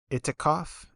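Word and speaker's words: i'tikaf: Muslims or whatever, but I believe it's pronounced like itikaf. I'm probably inflecting things wrong.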